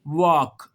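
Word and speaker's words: walk: कह रहा है कि अगर एल के बाद एफ आ जाए, एल के बाद एम आ जाए, एल के बाद के आ जाए तो तीनों सूरतों में एल खामोश हो जाता है, साइलेंट हो जाता है।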